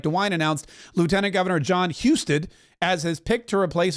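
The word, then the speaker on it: Husted: opens up the way Houston thank you Houston is how you pronounce it uh that opens up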